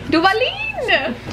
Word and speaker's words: Duvalin: Can you pronounce Duvalin? Duvalin? Duvalin!